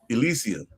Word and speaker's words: Elysium: How do you pronounce it again? Elysium.